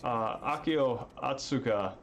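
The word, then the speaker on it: Akio Ōtsuka: to see they had AKO Akio atsuka that's how you pronounce his name yeah the basically Solid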